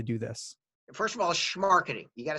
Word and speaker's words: Smarketing: First of all, schmarketing. You got to say it Oh, like you're from schmar- Brooklyn. oh, There you go. schmarketing, There you go.